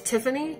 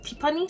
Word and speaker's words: Tiffany: That's the name my husband will call me, because my real name is Tiffany. And my husband, since he's Korean, it's pronounced Tipani.